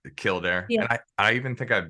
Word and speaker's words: Kildare: how like you're you're from Ireland correct the Kildare yeah I even think I've been there because my wife and I went I don't I don't know what year it was maybe like 2018 or something and Kildare is that how you say it yeah and